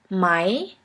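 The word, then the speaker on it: Mai: The first one is a E and a E which is pronounced like the English word for I. I. Here we have the example of the word my.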